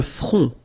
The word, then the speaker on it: front: Le front, final T not pronounced, le front.